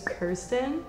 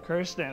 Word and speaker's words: Kirsten: make a clarification yeah very common misconception my name is kirsten kirsten okay did i pronounce